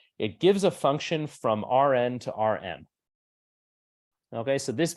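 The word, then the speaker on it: Rⁿ: vectors we write it like this this is pronounced RN or R to the N so this is pronounced either RN or R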